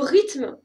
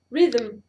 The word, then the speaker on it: rythme: Le mot rythme, il ne se prononce pas rhythm. Ça, c'est en anglais.